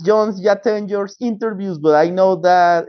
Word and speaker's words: Jatenjor: Yes, you pronounce it right. Jatenjor.